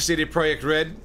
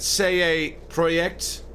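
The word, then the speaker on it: CD Projekt: to say it right it's not CD project red isn't it say project red say project cuz they're polish right I heard someone say it and I was like oh that's how you say it CD project red um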